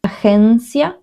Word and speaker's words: agencia: Agencia, so try to repeat it. Agencia, agencia. It's like an H and an E, agencia. The pronunciation here, it's like if you were saying G, like this.